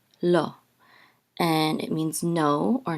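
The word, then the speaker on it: לא: the all sound and this is an Aleph which is silent so this is low low and it means no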